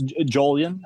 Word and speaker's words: Julian: It's Jolian. Jolian. is also totally fine.